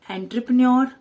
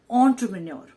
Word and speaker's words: entrepreneur: is derived from french is entrepreneur we majorly mispronounce it with entrepreneur or entrepreneur it is actually pronounced as entrepreneur entrepreneur is someone who starts a business and